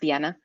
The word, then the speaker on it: Diana: My name is Diana, and it's actually pronounced Diana, as I'm from Mexico originally.